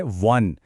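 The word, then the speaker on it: one: इसी तरह वन, शुरू ओ से है पर आवाज है वन, मतलब व की कॉन्सोनेंट साउंड, तो अ वन टाइम इवेंट।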